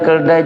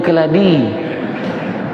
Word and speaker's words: keladi: Kai bila pula keldai keldai jadi sayur rupanya keladi dia baca keldai ejaan sekarang KF lam alif Dal ya keladi dulu KF lam Dal a keladi tu adalah hujung tuya